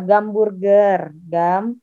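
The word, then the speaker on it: гамбургер: Jadi H itu biasanya jadi G. Contoh, kalau nggak percaya. Hamburger. Bahasa Rusianya apa? Gamburger.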